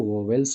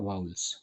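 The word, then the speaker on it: vowels: तो बच्चों, ये जो वोवेल्स जिसको हम बोलते हैं, वो वोवेल्स का एक्चुअल उच्चारण होता है वाउल्स।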